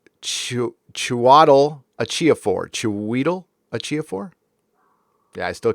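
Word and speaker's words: Chiwetel Ejiofor: 12 Years a Slave and Serenity villain pronounced Chiatel Achiofor. Chiwetel Achiofor.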